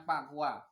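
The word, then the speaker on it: 八卦: Tulisannya Bagua, membacanya Pakua.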